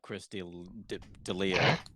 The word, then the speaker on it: Chris D'Elia: No, all I wanted to say about Chris D'Elia, that's how you say his name.